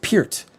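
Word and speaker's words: Peart: need pronunciation of his it wasn't per I always thought it was per I always thought Russia was like Neil per I did I think most people did Neil per Neil pert but Getty always pert and if anyone's going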